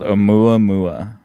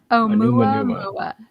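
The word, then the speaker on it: ʻOumuamua: It's called Oumuamua. Oumuamua.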